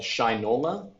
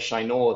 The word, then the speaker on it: Shinola: The next one is a brand out of the U.S., out of Detroit, called Shinola. Oh, that's how you pronounce it.